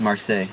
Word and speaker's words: Marseille: i don't know i don't know how to pronounce this he travels to mars marseille marseille yeah yeah that's the south of france